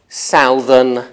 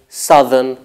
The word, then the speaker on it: southern: native speakers don't say Salvin and count ree we say southern and country the pair south southern has the same vowel alternation as profound profundity though the spelling remains